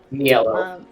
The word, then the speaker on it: Niello: Niello. What is it? Niello. Spell it. Yeah. Niello. Okay. It did sound like you were saying yellow with an N in front of it.